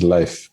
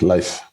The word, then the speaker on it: Leif: name my name is life it's pronounced like life like life is life